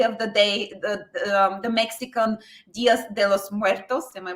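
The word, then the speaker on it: Días de los Muertos: I'm glad that it won, but essentially it was the Muertos mask, Day of the Day, the Mexican Dias de los Muertos. Am I pronouncing it right?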